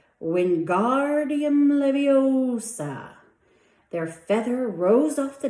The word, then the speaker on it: Wingardium Leviosa: "Wingardium Leviosa," he shouted, waving his arms like a windmill. "You're saying it wrong," Harry heard Hermione snap. "It's Wingardium Leviosa. Make the gar nice and long."